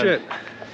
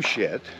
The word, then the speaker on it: Schitt: And it's spelled differently. Well, the name shit is spelled S-C-H-I-T-T. Yeah. The name shit is a real name that you can find in just about any phone book.